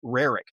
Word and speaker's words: Roerich: a Russian mystic by the name of Nicholas Roerich, or sometimes it's pronounced Roerich.